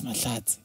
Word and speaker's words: Mahlatsi: One day he was like, dude, is this how you pronounce it? I'm like, nah, man, it's Malazzi.